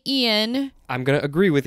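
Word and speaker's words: Iain: It is based on the book by, I'm going to say Ian. I'm going to agree with you. Okay, because it's not spelled like Ian's normally spelled. It's Ian. Okay.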